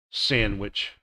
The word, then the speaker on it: sandwich: Silent D, handkerchief, handsome, Wednesday, sandwich.